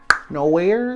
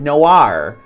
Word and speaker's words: Noir: Noir? Nowhere? Nowhere? Nowhere? I know how to say it. I'm not tripping. I know how to say it. Noir.